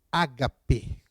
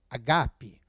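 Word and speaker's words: ἀγάπη: Bem, aqui a palavra ágape, ou a pronúncia no grego é agape.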